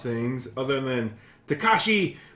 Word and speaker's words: Takashi: pronounce things other than Takashi Mikey Miki. You got Takashi pretty much right.